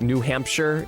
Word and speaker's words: New Hampshire: outside New England have a tendency to pronounce the S-H-I-R-E at the end of place names as Shire and not Sure, as it like New Hampshire.